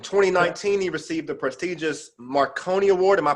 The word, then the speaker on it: Marconi: In 2019, he received the prestigious Marconi Award. Am I pronouncing that correct?